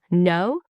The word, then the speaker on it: know: Mistake number 31, pronouncing every letter in a word. For example, in no, the K is silent. The correct pronunciation sounds like no.